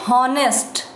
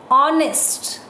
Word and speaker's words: honest: sound we don't say honest h is silent honest similarly ear so we